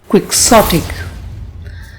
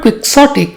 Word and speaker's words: quixotic: it will be Superfluous quixotic let's learn how to pronounce this word this word has three syllables quick s Andi and the stress is on the second syllable quick sik the word quixotic is an adjective it